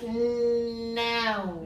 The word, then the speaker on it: noun: I need you to say this, otherwise it sounds like lawn. If you're saying 草地, then lawn. But we want you to say Noun. noun. Noun. N-A-U-N. Noun. Don't say noun.